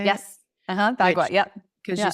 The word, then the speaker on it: Bagua: Bagua. Yep. Because Yeah. you said you would like to see the floor plan of the house, and so there's Haley, have you ever heard of this before? Mm-mm. Bagua.